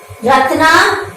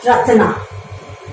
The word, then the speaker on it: Ratna: Ratna, it is pronounced as Ratan plus R, Ratna.